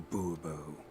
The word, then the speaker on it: Bourbon: as monsieur de bobo fine monsieur de bourbon the emphasis falls on the last syllable see now i'd rather